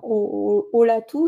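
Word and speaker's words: Olatu: Oatou, ça se ça s'écrit avec un u à la fin et pas un o mais ça se prononce ou parce que ça veut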